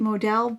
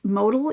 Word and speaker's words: modal: a nice drape so i was calling it modell but i've since heard that it's modal even though there's others like me who pronounce it modell but i think it's modal so that's what this is made of and